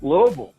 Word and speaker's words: Louisville: you got a blue you got to fill up your your mouth with air little bill and it comes it comes right on down it does hey by